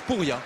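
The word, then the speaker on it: Purje: par le numéro 11 ça s'écrit purge mais ça se prononce pouria oui c'est pas pour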